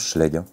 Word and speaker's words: Schleich: barionix c'est du schleg alors apparemment ça se prononce schleg le barionix serreur je